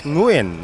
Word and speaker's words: Nguyen: And the correct pronunciation of Nguyen is Nguyen, as we learned from our friends from Vietnam.